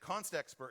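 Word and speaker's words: constexpr: there's a new feature the standard calls it context per if but it is spelled if Const expert because the standard thinks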